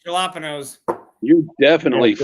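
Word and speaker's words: jalapeño: Or you're- as Daniel said, jalapenos. You're definitely Yeah, it's a jalapeno. talking now. The correct pronunciation is jalapeno. I am the produce manager. It's my call.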